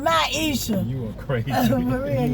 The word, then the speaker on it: Myiesha: Like, we be on the street and folks like be like, Myiesha. No, nigga, my name Myiesha.